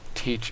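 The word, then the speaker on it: Tyche: want to take over it's not Tycho its teach I can't even pronounce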